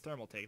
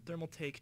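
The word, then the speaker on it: Thermaltake: don't know thermal take oh thermal take that's how you say it all right I'm I'm stupid thermal take Chaser series Chaser MK1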